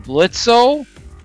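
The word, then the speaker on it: Blitzø: said makes me wonder when blitzo the O is silent Blitz I'm assuming will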